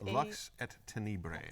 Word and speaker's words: Lux et Tenebrae: Luxi Tenebrae, if I can say it right. I don't trust myself to say it right. So Res Arcana, if you're not familiar with it, is Lux et Tenebrae, I think. Yes, that way.